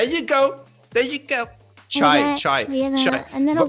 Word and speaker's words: cha: Chai is a Hindi pronunciation of that.